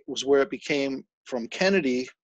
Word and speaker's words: Canedy: metal man himself yes none other than carl kennedy you know i used to pronounce her name kennedy do a lot of people do that everybody does that it's perfectly fine it's kennedy it's kennedy would be the correct but we found that